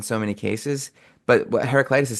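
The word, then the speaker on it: Heraclitus: Heracitis.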